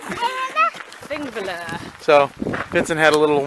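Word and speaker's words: Þingvellir: We're at Thingvellir National Park, also known as Thingvellir. That's not how you say it. Thingvellir.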